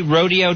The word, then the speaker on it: Rodeo: I've never heard anyone call it rodeo, but it's spelled like rodeo.